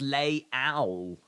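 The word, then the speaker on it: Leão: unlearning said maybe Valencia it's pronounced lay ow lay ow I didn't hear the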